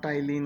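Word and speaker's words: ptyalin: है टाइलिन, sorry ये, हाँ टाइलिन होता है, ये जहाँ पे पी साइलेंट है।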